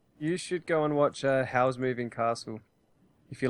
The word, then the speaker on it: Howl: you should go and watch Howl's Moving Castle if you like Spirited Away. I'm going to write all of these How do you down. spell that? Howl, like howling.